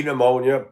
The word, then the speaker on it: pneumonia: Anything spelled with a P that you don't say the P is not good. P pneumonia, P psoriasis.